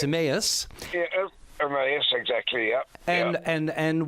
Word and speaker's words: Emmaus: One is pronounce it properly for me. Emmaus.